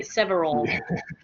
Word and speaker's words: several: kind of yes is it's two syllables several it's not several oh okay yeah you're pronouncing it like the spanish way several good several classes at